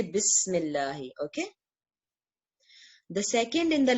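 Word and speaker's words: بسم الله: was actually ISM so we don't pronounce Al if we say bismillah okay the second in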